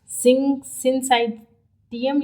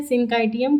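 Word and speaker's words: syncytium: Next point है, सिंसाइटियम या सिंकाइटियम, कुछ भी आप मतलब बोल सकते हो जो आप इजीली प्रोनाउंस कर ले जाओ।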